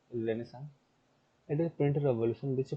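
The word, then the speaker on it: Renaissance: अब रेनेसां rebirth क्यों जरूरी था? फैक्टर क्यों, वो रेनेसांस, रेनेसा सॉरी, ये साइलेंट है कितने एरिया, ये साइलेंट रहता है।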